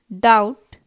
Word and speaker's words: doubt: start nee k silent doubt be silent listen t white h